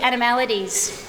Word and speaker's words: Animaladies: welcome everybody to animalities at least that's how I pronounce it animalities um I'd like to